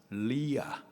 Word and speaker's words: 레아: 레아는 그렇지 않았었던 거죠 리아 히브리식 발음이 리아 뜻은 암소라는 뜻입니다 딸아이한테